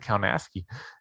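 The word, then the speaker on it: Kownacki: I think he pronounces it Kaunaski.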